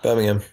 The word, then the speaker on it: Birmingham: The group were performing in Birmingham, UK earlier this week when a routine stage gimmick... Stop fucking around with that lighter. Birmingham. You don't pronounce the H.